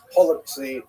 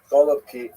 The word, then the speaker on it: Holubki: Holubki, right? Some people would say with the Russian pronunciation, golubki, which is cabbage rolls, right?